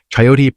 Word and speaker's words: chayote: Chayote, pronounced chay-o-tay, is a perennial vining plant from Central America that produces an apple-sized, pear-shaped fruit with a single seed.